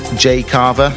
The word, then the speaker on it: Jayh Cava: Keep up to date with Jay CAVA's music on his socials at Jay CAVA. That's spelled J-A-Y-H-C-A-V-A.